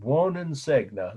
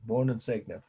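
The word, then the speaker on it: Buoninsegna: long Italian last name Wen segna that's how I've heard it my Italian friends pronouncing it you don't have to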